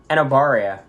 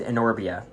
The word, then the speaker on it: Enobaria: So, Enobaria, for some reason, I just read it as Enorbia. And that's just always how I read it. And then in the movie, they're like, Enobaria, and I'm like, what?